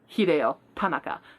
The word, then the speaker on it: Hideo Tanaka: and I'm like, okay, when you're pronouncing Japanese names, the emphasis goes on the first syllable. Hideo Tanaka.